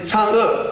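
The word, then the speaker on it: 嫦娥: But today I want to ask you to pronounce the Chang'e correctly, because it's too difficult to say like the word letter like Chang'e. Most of people like that. But it's Chang'e. I put the words there. You can pronounce that. Chang'e is correct.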